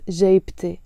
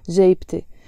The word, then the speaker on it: جيبتي: I have to pronounce the T مربوطة and it becomes جيبتي, my pocket. جيبتي.